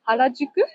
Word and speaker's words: Harajuku: This no, I'm not pronouncing it correctly. In Tokyo? Yeah, is it a neighborhood? Harajuku? No. Harajuku?